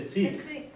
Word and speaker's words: Sikh: the pronunciation sck sick in Punjabi we say sik you do say sik